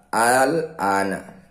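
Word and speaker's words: آلْآنَ: 51, terutama pada kata al-ana. Bagaimana cara membacanya dan apa nama bacanya? Al-ana. Di sini ada alif yang berharokat fathah panjang, atau disebut juga dengan mad badal.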